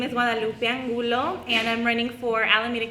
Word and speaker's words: Guadalupe Angulo: So we have Guadalupe Angulo.